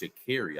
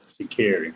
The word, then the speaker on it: Sha'Carri: Shout out to Shakari and, the 4x1 team. They took that thing home. So, She said her name is pronounced Sha'Carri. I didn't know that. Sha'Carri.